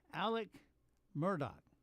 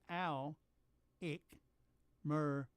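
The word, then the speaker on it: Murdaugh: And Alec Murdoch. That's Al-Ick Murdoch.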